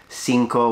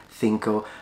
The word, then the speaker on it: cinco: course by the way he says Cinco with an S sound as opposed to the way they pronounce it in Spain Cinco then but as I